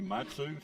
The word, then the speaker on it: Matsui: So here the Padres are after a free agent reliever, Yuki Matsu. Is that how you say his name?